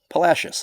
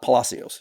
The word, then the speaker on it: Palacios: Well, because we're from Texas and Palashius is pronounced Palashius, not Palacios.